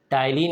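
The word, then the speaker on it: ptyalin: टायलिन या amylase, टायलिन में P silent होता है, टायलिन या सलाइवरी एमाइलेज कहते हैं।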